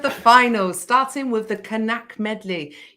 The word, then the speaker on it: Knaack: finals starting with the canac medley yes you're supposed to pronounce the k enactment i've been to